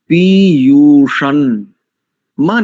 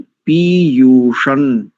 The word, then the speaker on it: पीयूषं: येभ्यो माता मधुमत पिन्वते पयः पीयूषं, मां नहीं करेंगे, पीयूषम नहीं करेंगे, पदच्छेद में यदि हमें उच्चारण देखना हो, शब्द देखना हो, तो तब पीयूषम हो जाएगा, किंतु संहिता में पीयूषण, द्यौर, दिति, रद्री, रद्री ऐसा, बरहाह।